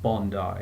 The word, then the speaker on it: Bondi: it was IGN team Bondi it's exactly how it's spelled really you know like James Bond so it's Bond and then it's I like the letter that's attached to the word bond you know it's not [